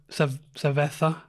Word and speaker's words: cerveza: So, you know, in European Spain, they pronounce their, what was it? Like a beer is a cerveza, like a th.